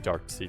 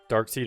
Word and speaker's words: Darkseid: Darkseid or Darkseid, I heard both. Honestly, I think it doesn't matter. They use Darkseid in the movies, but I would think you would pronounce it Seed, because they have a